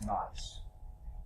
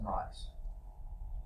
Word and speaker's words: gneiss: That was gneiss. Don't pronounce the G. You say nice rock. No, that's gneiss.